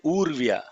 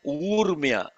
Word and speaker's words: ऊर्म्य: Urmya. Some people are chanting, I'll tell you, this as Urvya. It is not Urvya, Urmya.